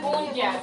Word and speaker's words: puncha: Punya sería. Punya. O sea, se escribe puncha, pero se pronuncia punya.